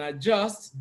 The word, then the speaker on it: adjust: option A is adjust even though we have the letter D in adjust D is silent it is not adjust